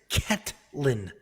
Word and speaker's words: Ketlen: talking to me yeah it's cat lynn i'm saying caitlyn i said caitlyn